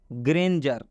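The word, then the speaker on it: grandeur: यहाँ पर डी के बाद URE है, तो इस डी का उच्चारण ज हुआ है। और DUR को एक बार में पढ़ेंगे तो क्या कहेंगे, जर।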